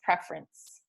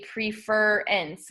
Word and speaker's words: preference: So the word prefer, when we add the vowel suffix ence to it, it becomes preference. We don't say preference, we don't say preference, we say preference.